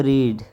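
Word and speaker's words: read: अब एक वर्ड है रीड रीड की जो थर्ड सेकंड फॉर्म है वो है रेड लेकिन स्पेलिंग सेम है स्पेलिंग सेम है लेकिन रीड कैसे करेंगे प्रोनाउंस कैसे करेंगे रीड रेड रेड अब आप कहेंगे सर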